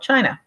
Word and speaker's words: Qin: his name written here chin Shi Wong D um literally meaning the first emperor of China uh the chin part is the very first part you'll notice it is spelled with a Q um this is an